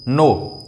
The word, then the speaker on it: know: एक और चीज़, जैसे कि आप लिखो KNOW, नो, इसमें क्या रहता है, के साइलेंट रह जाती है, ठीक।